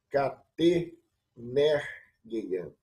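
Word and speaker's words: κατ' ἐνέργειαν: não é aspiração, e quando nós formos pronunciar, pronunciamos que junto, né? Catenergeian.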